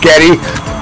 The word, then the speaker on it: Geddy: Isn't that why Geddy Lee from Russia's his name was really Gary, but his mom pronounced it Getty.